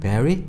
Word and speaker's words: Barry: Barry? Barry? Barry가 아니고 Barry. Re. Re. 그래서 R 발음은 뒤에 I나 Y가 왔을 때 베리, 우리말로 한글에 그 E가 아니라 리, 우이 있죠? 그런 형태로 발음해요.